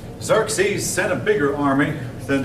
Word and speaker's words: Xerxes: own son named Xerxes he looks like it should be spelled with Z's instead of X's Xerxes set a bigger army